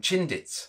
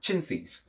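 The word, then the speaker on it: Chinthe: He when he was creating them, yeah, he mispronounced what the Burmese temple lions were called. Yeah, and so he called them Chindits when they should have been called Chinthys.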